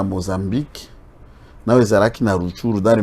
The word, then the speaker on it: Rutshuru: Bon, là, ça j'ai prononcé comme on le dit à Kinyarwanda. C'est comme ça qu'on prononce Massissi, Nirangongo, Nirangongo, Rutshuru. C'est comme ça qu'on prononce à Kinyarwanda.